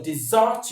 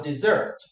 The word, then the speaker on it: desert: For the verb, a two-syllable verb will take its stress on the second syllable, desert, desert, desert.